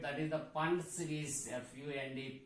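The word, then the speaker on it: Pfund: So all higher possibilities to fifth orbit, that is the Fund series, FUND, P is silent here, Fund series or front lines.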